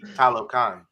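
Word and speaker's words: Talokan: how they it's the right it's rise uh talocon so it's pretty much he's telling his City his people to rise up so it's like Hollow kind yeah it's how it's pronounced but yeah so now did you hear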